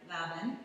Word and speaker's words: Lavin: We're at her gym in, don't tell me, it rhymes with cabin, Lavin.